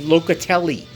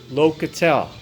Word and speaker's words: Locatelli: it's locatelle all right I'll pronounce it phonetically locatelli locatelle all right before um